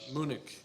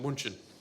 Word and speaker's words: München: But we were in Germany, I think second week there or something, and we went to church in Munich, which is in German it's pronounced München.